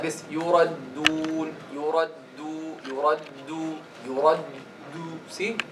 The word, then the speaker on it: يردون: And see how we pronounce the يردون. يرد دو ها why again you see why this helps you يردون. This is a common mistake.